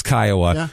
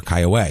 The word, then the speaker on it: Kiowa: This is it's the Kiowa Indians is what it's named after, and they technically can be pronounced Kiowa or Kiowa.